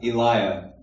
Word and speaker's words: Elia: So now you guys know how I pronounce my name, Elia. If you're from California, you just go like this and say Elia, because that's how they talk in California. In South America, it's Elia, because they do this Spanish like the I, the accent.